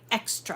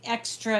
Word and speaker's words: Xtra: out with released this called the The Joy extra I'm going to go up a little tiny